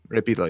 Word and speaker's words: Rey Pila: Spell it. What was it? Rey Rey Oh, Pila Pila. Repila. Got it. Rey Pila, yeah.